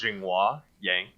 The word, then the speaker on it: Zhenghua Yang: So I guess the Americanized pronunciation of my name is Zhengua Yang, and but it's just way too long.